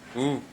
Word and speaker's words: who: Après marqué, je dis who. Ça veut dire W pas prononcé.